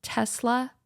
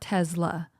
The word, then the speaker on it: Tesla: ] and another thing it's pronounced Tesla and not Tesla like pet peeve I've heard people pronounce Tesla Tesla with a z and it drives me